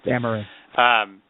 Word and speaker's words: Dameron: Dameron. Poe and then Dameron. That's the first. Like yeah, Cameron Dameron. with a C.